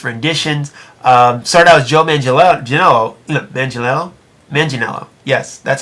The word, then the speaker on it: Manganiello: Started out as Joe Manganiello.